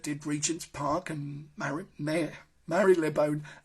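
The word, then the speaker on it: Marylebone: Regents Park and mayor Mary lebone there we go you see I said Mary lebone Marley bone and also designed the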